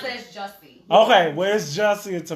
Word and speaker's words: Jussie: I pronounce it as Jussie.